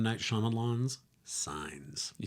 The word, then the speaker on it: Shyamalan: Night Shyamalan's Signs.